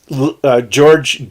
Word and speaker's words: Georg: horkheimer Herbert maruza and George gorg I call him George because that's the American pronunciation gorg Luca Walter Benjamin